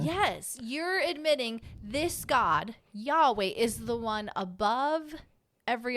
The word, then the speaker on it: Yahweh: that the yhw yes Yahweh Yahweh is how we would say it how we pronounce it it really says Yahweh Our God Yahweh one